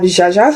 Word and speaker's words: Zsuzsa: which is short for Zsuzsanna, which is the English Zsuzsanna, and Zsuzsa is completely fine.